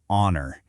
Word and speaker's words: honor: Next, we have honor.